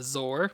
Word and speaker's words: Zoar: pack is definitely the zor so I hope I'm pronouncing the name right it said that it's supposed to be sore like sore like a bird just with a z so it'd be sore